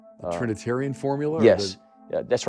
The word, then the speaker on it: Trinitarian: My uncle was had baptized me in Trinitine. I'm saying it wrong. Trinitarian formula?